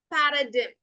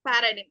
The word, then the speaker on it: paradigm: Paradigm അല്ല, it's paradigm. Paradigm. Okay, and the letter G is completely silent.